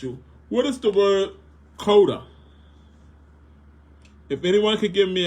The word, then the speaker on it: CODA: you can someone give me the acronym of c o d a what does that word mean c o d